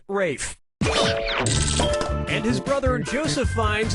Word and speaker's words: Ralph: 2 yeah ray Fiennes first name is spelled like Ralph but pronounced Rafe and his brother Joseph